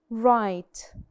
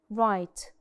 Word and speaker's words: write: which is read and write write and in write the W is silent so it's the first sound that you hear is R right and we have